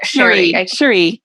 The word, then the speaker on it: Cherie: It's Cherie or Sherry? Cherie. That's what I thought.